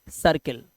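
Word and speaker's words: circle: इसी तरह से CI, सी के बाद आई आया, तो ये करकिल नहीं होगा, ये किरकिल नहीं होगा, ये होगा सर्किल, ठीक है।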